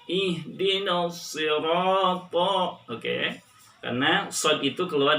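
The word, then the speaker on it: صِرَاطَ: Awas jangan tertukar huruf shadnya menjadi sin.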